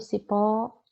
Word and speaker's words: cipó: Olha o cipó, pó é a sílaba tônica, é a sílaba mais forte.